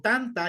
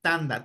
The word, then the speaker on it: tanta: Tanda o tanta, ya depende ahí donde usted esté. A veces esta T se pronuncia como la T como tal o se pronuncia como la D.